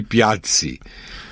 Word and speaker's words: Piazzi: Pizza, porque a pronúncia correta é com 2 Zs, né? É por isso que, assim como pizza tem 2 Zs e se pronuncia pizza... E não pisa.